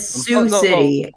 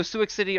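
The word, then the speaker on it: Sioux City: They're all from No, I said Sue City in Oh, two cities. Okay. Wait. Oh, that's how it's pronounced. Okay. I don't know if I was just Suix. Okay. So, Suic City or Sue City is in Iowa.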